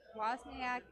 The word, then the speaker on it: Wozniak: I bet you the W is silent. So it's like Wozniak, so Wozniak. Wozniak, the W is not silent.